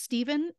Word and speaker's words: Stephan: marcelyn gave birth to Stephen Gandhi Jones and while it is pronounced Stephen it is spelled with an a n at the end in Stephanie's honor so